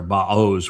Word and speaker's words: Boaz: with power in power boaz. It's actually ba or baos would be the uh the proper pronunciation if you look at the yeah the component parts.